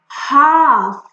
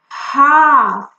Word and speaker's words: half: L is silent usually when it is in between A and F, like in half, half.